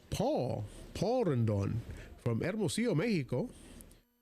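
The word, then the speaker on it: Pool: help with the pronunciations name spelled p o o l but pronounced Paul Paul Randon from erosio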